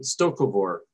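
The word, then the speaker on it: Sto-vo-kor: concept of heaven uh stokovor i believe is the way the word is pronounced in klingon or the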